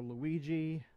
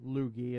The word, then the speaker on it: Luigi: princess one vote for Luigi or lugie as a as Aether guy types out funny thing when I was we little that's how I used to pronounce him lugie okay two votes for